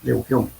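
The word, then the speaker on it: Lugeon: Y el método de Lejeune, L-O-G-N-C, Lejeune se escribe, pero se lee Lejeune.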